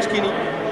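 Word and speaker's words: SCCP: de de Cisco eh pronunciado es normalmente skini claro skini suena en inglés ad delgaducho no sé si habéis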